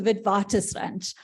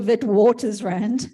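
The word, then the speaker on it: Witwatersrand: know where she is the University of the vidwaters ranch not the wit Waters round um in Johannesburg the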